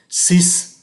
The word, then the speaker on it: six: cái âm Q, cinq, six phải cho thấy được cái âm S, neuf phải cho thấy được cái âm F, và số 10, dix, phải cho thấy được cái âm sở.